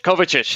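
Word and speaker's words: Kovačić: better because I know once that I can't pronounce the name Kovac the their new mid Kovac Kovac ish there you go see yeah the Eastern European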